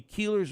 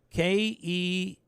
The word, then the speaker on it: Kelleher: Downsville area called Keeler it used to be keeler's Auction House spelled k-e-l-l-e-h-e-r oh Keller that's Kelleher it's not keelers how